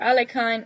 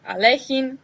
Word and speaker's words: Alekhine: The first one, the fourth world chess champion, Alexander Alakhine or Alexander Allein depending on how you pronounce it and the second Nimzovich Aon.